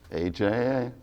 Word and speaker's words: AJA: row before this interview debating how AJA is pronounced, and your answer is? AJA.